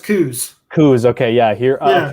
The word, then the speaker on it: Coos: maybe well it's but it's interesting here it's pronounced coos who's okay yeah here uh here it's co-ops